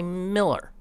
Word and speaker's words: Mueller: By the way, how do you pronounce that name? Some people say Mueller. I've heard people say Mueller, and I've heard people say Miller. I think it's Mueller.